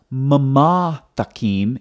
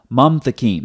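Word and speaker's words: ממתקים: So it's not mamatakim, it's mamtakim. That's why when you look at the transliteration over here, it's one syllable, mam, not mama.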